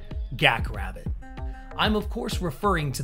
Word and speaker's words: GaK RbT: or as millions of fans around the world pronounce it gak rabbit I'm of course referring